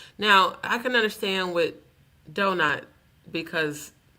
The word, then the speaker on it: Donut: Sir, it's pronounced donut. Why do white people always mispronounce black folks' name? You know how many times I've been called Donty, Donita, Donette?